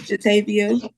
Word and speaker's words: Jatavia: Did I get the pronunciation of your first name correct? it's Jatavia. Jatavia?